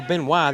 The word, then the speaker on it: Benoit: Oh, Benoit. There we go. It's French.